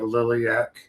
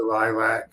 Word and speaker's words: Lilac: I mispronounced it last week. Something I deeply regret. And I'll punish myself. I kicked myself in the balls for weeks for calling it Liliaak, but it was the Lilac Comic Con in Spokane, Washington, and it was lovely.